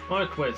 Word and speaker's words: Marquis: Marquis, that's how you say it.